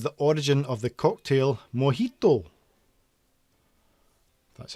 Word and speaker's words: mojito: which country is the origin of the cocktail mojito that's how you pronounce it uh which country is the origin